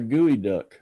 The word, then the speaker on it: geoduck: Sort of And looks like a gooey duck, the one on the left. You know what a gooey duck is? no. It's spelled, I'm surprised being Washington, it's spelled Geoduck.